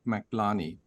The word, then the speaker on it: McLarney: Now, with a last name like McLarney, is that Scottish? I'm afraid it's Irish. It rhymes with Blarney, Doctor, and thanks for having me on today.